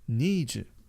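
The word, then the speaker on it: 二十: We know that 10 is read as ju. Right? So this is how you say 20. Ni ju.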